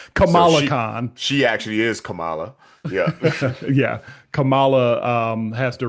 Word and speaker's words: Kamala: Kamala Khan had to, or I always like pronounce her name like Kamala Harris, yep. So Kamala Khan. she actually is Kamala.